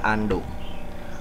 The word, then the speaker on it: undo: pertama yaitu perintah undo walaupun tulisannya unduh dibacanya Ando fungsinya adalah untuk mengembalikan